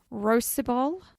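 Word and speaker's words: Rhosybol: from, I don't know how you say this, Rosybol School in Anglesey, North How do you Wales. spell it?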